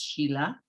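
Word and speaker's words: sīla: that the reality of morality or sila sometimes pronounced sheila comes from the reflections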